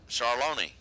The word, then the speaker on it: Charlon: David charlon as I've just been tipped off how to pronounce that charlony 6 14 dial leaving